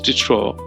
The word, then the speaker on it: Diderot: So we pronounce it as Diderot.